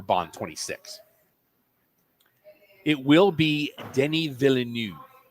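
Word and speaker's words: Denis: I think he's a great He's French, so it's Denny. It's spelled Dennis with one N, but it's Deni.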